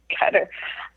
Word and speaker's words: Qatar: Oh, Qatar. I pronounce it the way I told me to pronounce it, and that's when I was living there.